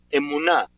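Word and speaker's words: אמונה: La palabra fe, su palabra original en hebreo significa, se pronuncia emuná.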